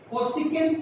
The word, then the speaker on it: cosec: कोसेकेंट इसकी पूरी spelling है, और शॉर्टकट में मैं चाहूंगा कि आप इसको कोसेक पढ़ें, क्योंकि कोसेक ही लिखा हुआ है, आप कोसेक थीटा ही पढ़ेंगे।